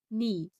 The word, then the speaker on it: know: इसका दूसरा रूल है, जब के बाद एन आए तो के साइलेंट होता है, जैसे KNEE नी, KNOW नो, KNIFE knife, KNOT नॉट।